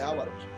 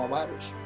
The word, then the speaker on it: avaros: tienen avaricia, los avaros, nosotros decimos ávaros, pero dicen los que saben que no se dice ávaros, sino avaros.